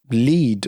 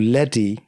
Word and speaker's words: LEDE: a while it became lead or lady however you want to pronounce it lede for a period